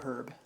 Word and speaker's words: herb: Uh, it can be pronounced either way. In fact, I pronounce it either way depending on the context of the sentence. Yes. So, it can be herb or herb.